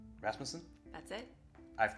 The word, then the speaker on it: Rasmussen: podcast thanks for listening we are interviewing Emily rasmon rasmason that's it I've pronounced it correctly one for one so far